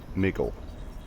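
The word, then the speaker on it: Mikkel: me that um that in Danish K's are pronounced as G's so it's kind of migle um so yeah that's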